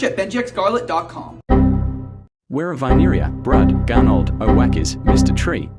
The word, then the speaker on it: Brud: It's Brud, not brought.